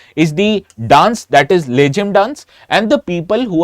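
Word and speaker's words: Lezim: told you this uh dance is called as laim in English but actually it is pronounced as leim in marati now this leim is often featured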